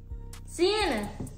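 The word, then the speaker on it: C'nea: Sienna.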